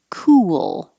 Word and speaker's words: cool: same position ooh and then ending with l so it's almost two syllables i divided them here so it would look like two syllables to remind you you're making a movement from your lips being rounded ooh to unrounded for the l cool you don't have to